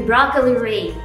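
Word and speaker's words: broccoli rabe: It's spelled rabe, but if I say it, it will be broccoli ray.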